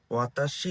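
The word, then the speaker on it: は: ওয়া পার্টিকেল। তো আপনারা তো বলবেন, এটা তো হা, হিরাগানাতে হা, কিন্তু এটাকে ওয়া কেন বলছি? তো পার্টিকেল হিসেবে যদি আমি এটা ইউজ করি, তাহলে এটার উচ্চারণ হয় ওয়া।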